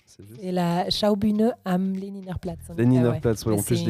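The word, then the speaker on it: Lehniner Platz: Peut-être arriverais mieux à le prononcer le nom que moi d'où tu travaillais, c'est Leinerplatz. C'est la Schaubühne am Leninerplatz.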